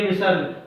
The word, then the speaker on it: विसर्ग: इसका जब उच्चारण हम करते हैं तो जाहिर सी बात है वह ह का हकार का उत्पादन होता है। इसका उच्चारण हकार की तरह होता है। जैसे पुनः ह आ गया, दुख ह बोला जाता है।